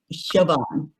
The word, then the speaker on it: Siobhán: can see she it's uh written spelled as s-i-o-b-h-a-n and i like how do we say that and but it's shivan so a beautiful beautiful name so anyhow um